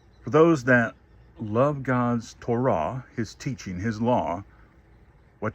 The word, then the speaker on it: Torah: This is the Hebrew word Torah or commonly pronounced Torah.